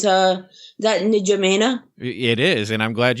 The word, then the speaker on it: N'Djamena: Yeah, it's that N'Djamena.